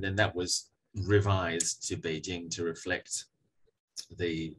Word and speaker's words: Beijing: that's a little bit similar to Peking becoming Beijing. So Peking is a representation of the name of that city in Cantonese, Baking, which got spelt as Peking in English. And then that was revised to Beijing to reflect the pronunciation of the standardized form